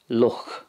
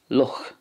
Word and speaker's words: luch: in the munster dialect luch it's also pronounced this way in connacht luch but in ulster there's kind of a more silent sound at the end and it's pronounced luch moving on to teach